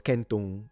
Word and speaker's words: centum: They even still have the C pronounced like a K, at least in the north, for like centu for 100, which was centum in classical Latin, which